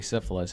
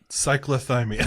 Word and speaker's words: cyclothymic: I always say syphilis, and he said that's not it. Cyclothymic.